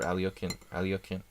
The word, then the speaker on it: Alekhine: I would say don't play the Alekhine's defense or Alyokhin. Try to say it correctly.